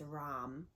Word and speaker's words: Ram: However you want to pronounce that, I say it as Ram, and that's how I've heard a lot of Hindus and a lot of other spiritual practitioners speak it.